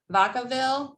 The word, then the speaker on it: Vacaville: Kathy has spent 30 years working for cities in Northern California, including Citrus Heights, Davis, Vacaville. Did I pronounce that right, Kathy?